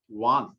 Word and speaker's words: wands: इसका प्रोनाउंसिएशन होती है WANDS, लेकिन डी यहाँ पर साइलेंस रहता है, तो उसको वांस नहीं बोलते, वांस बोलते हैं, डी साइलेंस रहता है। वांस, वांस का मतलब है छड़ी, स्टिक।